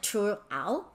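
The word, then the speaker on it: Triệu Ẩu: This is really difficult to pronounce in Vietnamese. It's something like Chu Ao.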